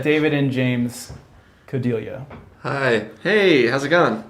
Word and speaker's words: Codeglia: said David and James Cody liya hai hey how's it gone is that the right plan NLCS of lovely yeah rhymes with familia ok good it's a